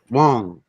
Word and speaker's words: Huang: His last name was Wong. It's spelled Huang.